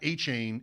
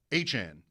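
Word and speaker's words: Achane: and they tell you, "No, it's not Achain, it's Achan."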